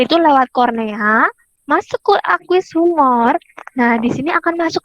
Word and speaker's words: aqueous humor: Aqueous humor bacanya ya, bukan aque, bukan, tapi aqueous humor.